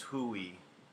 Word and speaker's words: Huawei: So it's the Huawei 5G. Yeah, gotcha. That is the. Some people say it's Hui. So however you would like to pronounce.